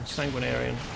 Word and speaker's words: Sanguinarian: Oh, well, that's not quite correct pronunciation. Sanguinarian. What a pretentious name.